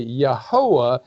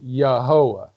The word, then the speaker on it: Yahweh: He said the proper way to pronounce that would be Yahweh, and it's the same word that we get Jehovah from. It should be pronounced Yahweh, and it just means I am.